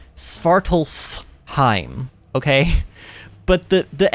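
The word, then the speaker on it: Svartalfheim: spartalheim now I know there's an F you're technically supposed to pronounce this word spartalph Heim okay but the the f is just in the way so I'm likely going to say spartalheim just a lot and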